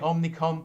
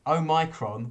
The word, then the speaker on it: omicron: want to call it omnicom but it's not i want to call it ofcom but it's omicron which sounds like someone's taking macron's name in vain but just mispronouncing it this is the new